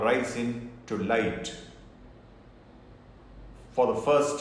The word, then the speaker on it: ricin: that happened in 1978 to be precise is racine actually the correct pronunciation is rising though it is commonly mispronounced racine i'm not very sure as to why that